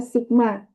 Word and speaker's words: sigma: Ini bacanya adalah sigma, ya. Bacanya sigma juga.